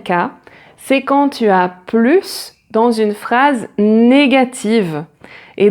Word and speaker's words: plus: Le premier, on ne prononce pas le S de plus quand il est suivi d'un adjectif ou d'un adverbe. Par exemple, cette voiture roule plus vite, elle est plus